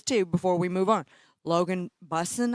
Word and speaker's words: Busson: Logan Busson, I think is how you say it. Busen. Yeah, Busen. 13 tackles.